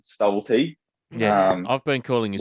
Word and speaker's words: Stubblety: How do you say your own name? What a ridiculous question, but it's a good one. Yeah, Stubblety. So Stubblety. it does have an L in it, but yeah, I always got called Stubblety.